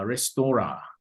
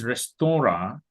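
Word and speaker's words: restaurant: French word uh restora in English we write restorent but in French language the pronunciation is restor so while you are writing restorent in spelling on the board you must pronounce it as restora so that your audience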